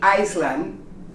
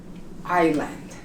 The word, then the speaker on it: island: people make a mistake you don't pronounce the s in Island you don't say Iceland you say Island let's continue with teeth